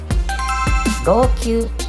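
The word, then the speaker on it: 籠球: ローキューと読みます。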